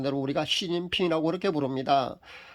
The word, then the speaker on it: 시진핑: 그 나라에서 발음하는 대로 우리가 시진핑이라고 그렇게 부릅니다. 한자 그대로 우리식으로 만약에 발음을 한다면요, 습금평이라고 불러야 합니다. 근데 우리가 습금평이라고 부르지 않고요, 그 시진핑이라고 그렇게 불러주지 않습니까?